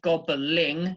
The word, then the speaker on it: gobbling: So in the first word, gobbling, you have 3. So you have a kind of ball, and then you have the ing sound.